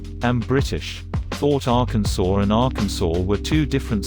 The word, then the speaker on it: Arkansas: investigating to do the pronunciations of Kansas and Arkansas are not at all similar I'm Ozzy so I